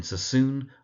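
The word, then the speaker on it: Sassoon: There's Seek freed Cissoon. Seek freed cassissoon emphasis in the first word seek freed on the seek the first syllable and in cissoon on the second syllable. So seek freed cissoon.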